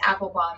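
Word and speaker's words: Appelbaum: yes steven s-t-e-v-e-n and last name is apple bomb a-p-p-e-l-b-a-u-m the biggest the biggest mistake people do is they spell it apple like the fruit it's not it's a-p-p-e-l-p-a-u-m and everybody needs to follow him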